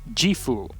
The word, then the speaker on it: Gifu: watching here is like it's pronounced G foo know the G foo Prefecture with the samurai yes it's right north